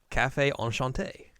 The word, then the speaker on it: Café Enchanté: you got to say it correctly correctly correctly Cafe on Shante on Shante yeah uh which that's how they